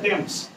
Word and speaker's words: Thames: এইবারে ইংলিশে তুই যদি উচ্চারণ করিস তাহলে TH থ হয়, তাহলে থ্যামস আসবে। আর থ্যামস বলে কোনো নদী নাই, বুঝতে পারলে? নদীটা বলে টেমস, নদীটার নাম বলে টেমস নদী, কিন্তু বানানটাই তো TH দিয়ে শুরু, বুঝা গেল?